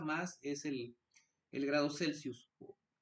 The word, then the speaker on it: Celsius: es el el grado Celsius o grados centígrados como se le dice No mejor dicho es de otra forma correcta es grados celsus y bueno el mol